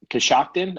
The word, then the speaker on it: Coshocton: um cost you koshkin how do you say that cos Coshocton shocked in Coshocton okay so cos shocked at Ohio listen dude there's a